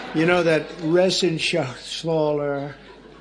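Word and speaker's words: Reschenthaler: And Guy Resenshaw. You know that Resenshaw. It's that's actually the way you pronounce it.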